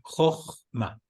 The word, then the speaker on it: Jochma: Jochma. No es con F, es con J.